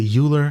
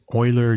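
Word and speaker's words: Euler: this by the way I say uler I don't know it's Oiler uler uler is Swiss German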